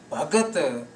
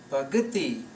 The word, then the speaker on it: Bhagati: So when we change the setting, sing Teri Bhagat, missing the I sound at the end of the word Bhagati, then we just convert this feminine word Bhagati to masculine word, and Teri Bhagat is